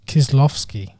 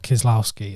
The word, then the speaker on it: Kieślowski: the background here as always by Christoph it's kiss laughs key is how it's pronounced yeah not kiss Laos key as I used to say for years again